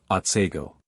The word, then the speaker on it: Otsego: Thus the scene of this tale is spelt Otsego, and is properly pronounced Otsego.